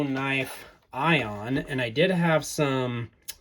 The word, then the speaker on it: Aion: Today, we are taking a look at the O knife Ion. And I did have some questions about how to properly pronounce this because some of these pieces of